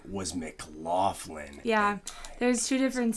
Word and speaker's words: McLaughlin: landlord in college and his last name was Mclofflin. Yeah, there's two different say like ways people say it, but our family always went with the G L O C K version. Macklin. Pronounce it out.